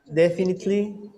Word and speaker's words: definitely: it repeat after me definitely definitely like you don't pronounce the e definitely definitely definitely definitely